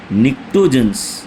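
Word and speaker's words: pnictogens: इसके अलावा एक ग्रुप 15 भी है जिसको हम निकोजस बोलते हैं ना पी साइलेंट होता है निकोज बोला जाता है।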